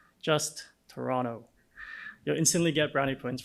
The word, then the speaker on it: Toronto: tip when pronouncing Toronto pronounce it without the second T just Toronto you'll instantly get browny